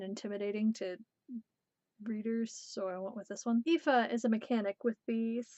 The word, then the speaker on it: Aoife: how you pronounce it it's an Irish name I could have gone with the more like way of spelling it but this way seems less scary and intimidating to readers this one Aoife is a mechanic with